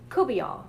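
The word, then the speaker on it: courtbouillon: similar to which is redfish Kuby on which it looks like court bouillon when you spell it but I grew up eating Kuby ah and that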